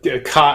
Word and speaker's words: ki: Yeah, that is the Kai. I never know how to pronounce that word. See, here I am again. I read it in text. Do you say Ki or do you say Kai, Paul? Ki.